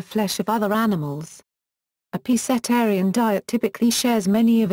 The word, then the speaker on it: pescetarian: The Italian word is pronounced, while the English neologism is commonly /pescetarian/ with a /sk/ sound, thus differing from pronunciations of similar terms in English and Italian.